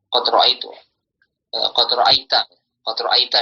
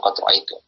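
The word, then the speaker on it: قد رأيتَ: Jadi kata Anda telah melihat di sini ya, qad ra'aita di sini. Ini kepada yang diajak bicara, bukan qad ra'aitu. Qad ra'aita.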